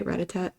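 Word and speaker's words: Rattata: Uh I love Ratat because it's little purple rat is how you say Ratat.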